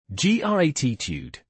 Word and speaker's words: gratitude: It's stressed on the first syllable. G r a tude. gratitude. The t sound is soft, almost a d sound. Yes, especially in American English, it's a soft d.